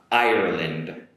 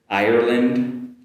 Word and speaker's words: Ireland: My first are two countries that are similar uh in sounds and the first one is going to be uh Ireland, Ireland compared with Iran Iran. Ireland Iran.